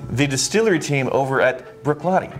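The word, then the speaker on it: Bruichladdich: distillery team over at brooklotti i think they pronounce it brookhlove that's accurate it's one of the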